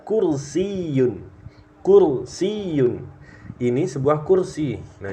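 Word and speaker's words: كُرْسِيٌّ: berikutnya gampang ya H kursiun kursiun di sini Sebenarnya ada tasdidang ya yanya ini kursiyun jadi cara bacanya seperti itu ya diharapkan bisa diulang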